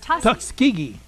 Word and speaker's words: Tuskegee: How do you pronounce the airman? Is Tuskegee.